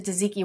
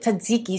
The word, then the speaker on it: tzatziki: A homemade tzatziki sauce. What is wrong with you? You just said tzatziki. You're saying tzatziki. Because there's an extra T in there. You're saying it wrong. You're silent. Tzatziki.